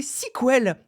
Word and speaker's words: SQL: La semaine dernière, Guillaume, on s'étonnait toi et moi de prononcer sequel et non pas SQL. Moi franchement, en IUT, on me parlait de SQL.